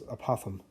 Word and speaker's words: apothem: only one showing here it's a weird word or makes me feel like I have a list when I say it like I'm talking about an opossum but it's apothem so a possum here